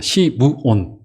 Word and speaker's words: 시므온: 시므온. 그런데 구약 성경에서는 그런 비슷한 이름을 시몬이라고도 발음을 하기도 했어요.